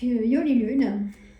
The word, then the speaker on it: Yoli Lune: Ça s'écrit Y-O-L-I espace Lune. La dame a sa chaîne aussi. Donc Yoli Lune.